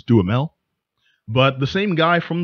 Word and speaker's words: Duhamel: At the very least, even coming up against cats he knows, Josh Duhamel, Duhamel, damn it, I'm not sure the exact proper way to pronounce that. I think it's Duhamel.